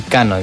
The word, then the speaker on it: Kano: Kano. It's gonna be Kano, guys. That's how you pronounce it.